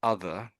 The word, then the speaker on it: other: Um, another word I noticed was So, this is other, but I heard it. I heard something like that. No. Um, um, not what I heard was this. Ah, that's what I heard. Yes. So, I say both of these for you. Other. And can Does this sound different to you?